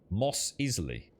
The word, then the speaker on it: Mos Eisley: maz aysley moz easily moss easily you're getting a get out of here moz eisley's pronounced moss easily moss easily moss easily